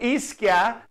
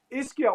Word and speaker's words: Ischia: So maybe he will come shortly back because I remember the first time you came to Ischia, Michael was there, and actually he was very proud that we showed the Merchant of Venice in Ischia.